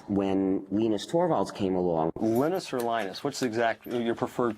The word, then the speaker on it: Linus: Linus or Linus? What's your preferred pronunciation?